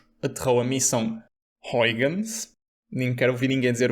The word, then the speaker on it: Huygens: Huygens. Como? Again? Huygens. Pronto. Huygens.